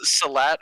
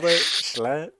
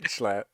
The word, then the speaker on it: Schlatt: Salat or something. Yeah, Slat? Schlatt. That's his name. Schlatt. His name is Schlatt.